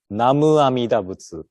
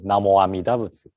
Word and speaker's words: Namu Amida Butsu: Sometimes we hear Namu Amida Butsu, and some people say Namo Amida Butsu. But Namu and Namo is same thing. We are just pronouncing the Chinese characters in different way, right?